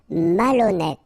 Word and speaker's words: malhonnête: Malhonnête. Okay, remember, H doesn't exist, so malhonnête. Don't insist on the final E. Malhonnête. And here you get accent circumflex, so you pronounce it like E.